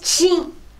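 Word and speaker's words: Qing: Ça s'écrit Q-I-N-G et ça prononce Ching.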